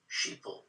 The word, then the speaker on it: sheeple: a play on words we call sheep sheeple because it rhymes with people right yeah okay so